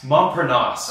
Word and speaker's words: Montparnasse: the role of, I don't know how to pronounce that. Montparnasse.